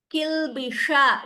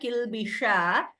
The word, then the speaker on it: किल्बिष: So shambho is sh, kilbisha is sh. So that difference we have to make. Again, there are different sutras which tell us how to pronounce each of them. But for now, let us note this difference, sh and sh. When I say sh here, kilbisha, the tongue is slightly turning upwards towards the roof of the mouth, kilbisha.